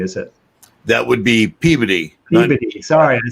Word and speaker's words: Peabody: from Peabody, Mass. That's not too far from you, Richie, is it? That would be Peabody.